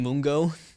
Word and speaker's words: Mungo: Last name Mungo, Mungo. Kind of, or maybe it's like Mungo rhymes with fungo.